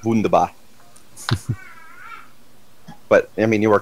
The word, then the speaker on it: Wunderbar: Wonderbar. Shit. I believe it's pronounced wunderbar.